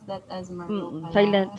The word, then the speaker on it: Merlot: Oh, Merlot, you pronounce that as Merlot pala.